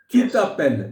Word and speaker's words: tu t'appelles: tu t'appelles, यहां S silent है, tu t'appelles a sound